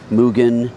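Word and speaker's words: Mugen: How many times do you want me to say Mugan today? And you guys are going to put it in the comments. It's pronounced Mugan.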